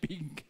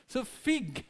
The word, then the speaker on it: fig: bunga ng fig tree figs Hindi po baboy ha figs kasi baka yung ibang pronunciation pig pig so fig Okay Yan po ang